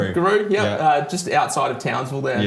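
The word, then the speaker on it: Giru: So you are born in Guru, am I pronouncing it? Guru.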